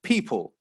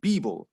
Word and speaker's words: people: So if we look at the first one and it says people, if we pronounce it using a b, we get beeble. Now, that sounds quite different to a native English